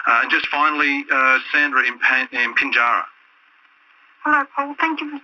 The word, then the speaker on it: Pinjarra: And just finally, Sandra in Pinjarra. Hello, Paul. Thank you for taking my call. That's all right. I should say Pinjarra. Pronounce it properly.